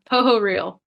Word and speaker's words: Pohorylle: Pohorylle. Pohorylle. Okay. I wasn't Pohorylle. too far off. See, I'm from Eastern Kentucky. So my initial reaction was, Pohorylle. Pohorylle. It's like a crocodile.